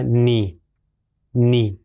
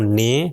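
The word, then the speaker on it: نِ: یہ ہو جائے گا نی، نی۔ اگر میں کہوں نے تو یہ غلط ہے، نی صحیح تلفظ ہے۔ پھر آخری تین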